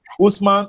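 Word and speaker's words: Hausman: Usman is spelled H-A-U-S-M-A-N.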